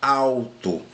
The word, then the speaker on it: alto: Ninguém fala alto, né? A gente fala alto. Então, eu tenho um som de U aqui, pessoal.